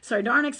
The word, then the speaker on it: sardonyx: Sardonyx, a variety of chalcedony, thank you, Jennifer is approving of my pronunciation.